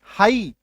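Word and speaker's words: high: ये देखो एच आई जी एच इसका उच्चारण हम लोग क्या करते हैं? आई है ना? बट यहां पे जी का उच्चारण गायब है। एच का उच्चारण गायब है।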